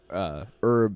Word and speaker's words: herb: They say the same thing about us saying herb instead of herb. Herb. Yeah. But normally they don't pronounce the H in words like that.